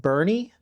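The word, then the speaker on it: Boerne: I think it's actually pronounced Bernie.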